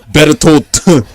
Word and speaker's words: Bertolt: Bertolt. It had a D near the end of the T, but.